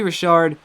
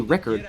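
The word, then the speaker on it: Rickard: don't know but Joey Rashard and I don't understand why his name is pronounced that way it should be Ricker whatever he strikes out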